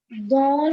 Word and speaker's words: dans: We always have to keep consonants silent that lie in the end. Okay. So the correct pronunciation is what, Nandita? Ma'am, dans la classe. Very nice. It's dans la classe.